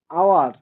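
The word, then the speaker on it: hour: কিন্তু অনেস্ট অনেস্টটা এইচটা খানিকটা ও এর মত উচ্চারণ হচ্ছে যার জন্য এর আগে আমরা এন দেখবো সেম আওয়ার এটাও সেম এর আগে আমরা এন দেখব এগুলো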